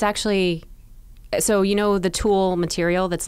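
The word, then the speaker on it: tulle: yeah okay exactly well that's called thule it's actually called tool oh how do you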